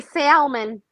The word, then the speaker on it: salmon: Well, you say Salmon. No. No. Jonesen Salmon. No L is silent, baby.